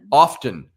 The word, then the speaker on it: often: out are you dyslexia often often the t is silent now there's a t